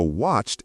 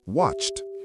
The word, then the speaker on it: watched: Watch ends with a ch sound, so watched is watched.